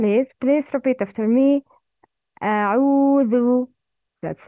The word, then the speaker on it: أعوذ: The correct pronunciation for thal is, please repeat after me, أعوذ. That's right. The wrong is أعوذ.